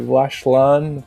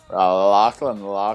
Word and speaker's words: Lachlan: Clean Winner or Lashlan. That guy is. Lashland, bro. Is No. that not how you say it? Lachlan. Oh, Lachlan. Okay. Oh, I've been saying it wrong for all these years.